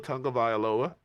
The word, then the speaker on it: Tagovailoa: They really, really could if dude Tua Tagovailoa got it out.